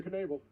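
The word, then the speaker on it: Knebel: also smart and and educated about music corey kenable i finally got it right i heard that dj i heard you pronounce that kanebo enable yes i i i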